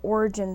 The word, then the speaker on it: Orijenn: my channel is called origin fibers that's because origin is um kind of uh it's spelled differently o r i j e n n like gen like my name but i like to